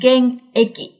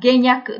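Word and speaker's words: 現役: cụm từ này là gen-eki. Gen-eki không được đọc là " geng-juku," mà là "gen-eki," thường dùng để chỉ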